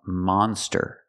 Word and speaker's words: monster: We have to use the open sound monster. Ah, like hot and stop.